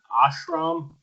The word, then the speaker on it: ashram: Now, what devastating remark was made when John came back to help me again, the ashram? You have to help me with my pronunciation.